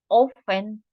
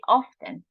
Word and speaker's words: often: It's common to say, well, not common, but it's used to say often. It's accepted too, the pronunciation often. But it's the most common is often. But often can be correct too.